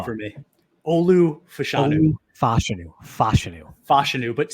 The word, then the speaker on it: Fashanu: Olu Fashanu.